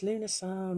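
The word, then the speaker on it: Lughnasadh: would try and spell lunasar um but it's really complicated it's something like l-u-g-h n-a-s-a-d-h but spellings and pronunciations do vary so if you get stuck lamas traditionalists might say oh it's lunasan all the rest of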